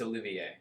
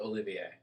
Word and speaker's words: Olivier: but it was like olivier armstrong olympia it's olivier i know it's spelled olivia but it's pretty it's pronounced the olivier i hate when people do that they just